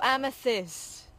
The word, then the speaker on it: amethyst: say it again Serb amitai hamitized a-m-e-t-h oh amethyst amethyst amethyst darling nice one Sam that's nearly